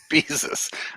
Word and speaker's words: Bezos: I mean, I like to plug it because Bezos seems like a cool dude. Bezos. I love how you mispronounce his name like Jesus.